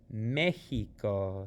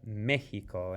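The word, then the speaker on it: México: to give it that mexico see the x in spanish in this case is pronounced like like the spanish j or the english h mexico and it has that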